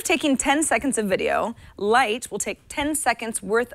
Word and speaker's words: Lightt: beast and that's why an app called light that's spelled like l i g HT but with another T on the end is trying something new